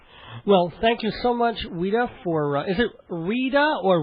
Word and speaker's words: Ouida: Well, thank you so much, Weda, for Is it Rita or Weda? It's actually Weda. It was O UI DA, but it would it's pronounced as if it's spelled W E D A.